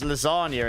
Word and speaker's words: lasagna: Could you pronounce lasagna again? Lasagna. Where I come from, we say uh like glass and grass and lasagna, you know, it's all I have the streak of Queen's English in me, I guess.